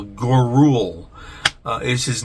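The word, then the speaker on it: Gouroull: Dr Frankenstein uh and it is spelled g u r o u l l gorule uh is his name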